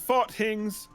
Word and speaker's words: farthings: small unit of currency it's pronounced fought things that happened yeah